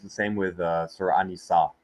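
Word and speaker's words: النساء: Right, it's the same with Surah An-Nisa, where they have the AN instead of the AL in pronunciation, right?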